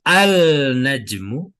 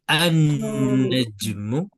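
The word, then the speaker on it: النجم: Jadi tidak al-najmu, tidak al-rajulu, juga tidak al-diku, tidak al-tolibu, tetapi langsung masuk menjadi an-najmu, ar-rajulu, ad-diku, at-tolibu.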